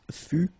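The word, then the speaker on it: fus: keep in mind that final s is not pronounced exactly the same thing final s not pronounced final not pronounced okay so basically you've got only one phonetical form here and it's fu F Fu the same okay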